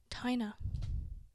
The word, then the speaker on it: Tayna: It's just Ty and nah. Like a tie and then nah. Tayna.